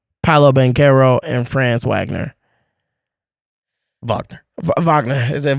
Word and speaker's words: Wagner: Wagner. Is it Wagner? I thought it was Wagner. Okay, Wagner. It's spelled Wagner, but it's pronounced Wagner.